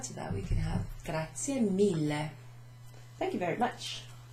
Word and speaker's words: grazie: Grazie, remember, e. So in Italian you'd say for e, and you pronounce it that way too.